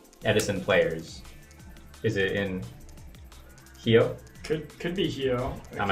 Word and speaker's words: Rio: yeah you don't yeah they don't pronounce the RS B Brazilian Portuguese speakers B yeah yeah so it's not Rio it's hio hi hioo that's interesting